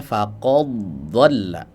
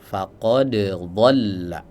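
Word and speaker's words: فقد ضل: Ya, contoh pada lafaz faqod dolla, ada yang membacanya faqadolla, dalnya diidgamkan ke huruf dod karena makhrajnya berdekatan ya. Tapi dalam riwayat Hafz, jalur mana pun dibaca dengan izhar faqad dolla ya. Jadi tetap dibaca jelas ya.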